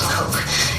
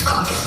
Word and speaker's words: Coke: Edward Cook, even though it looks like it's spelled Coke, is Cock.